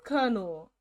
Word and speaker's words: Colonel: Let me put this into pronunciation. Colonel. No, it is Colonel.